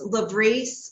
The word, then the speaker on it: LVREIS: It's Levrese, but it during the trial we did both, but it's a mouthful. So I just say Levrese.